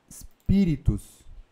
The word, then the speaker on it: Spiritus: Primeira coisa, perceba que esse spiritus, a sílaba tônica está aqui, ó. Spiritus.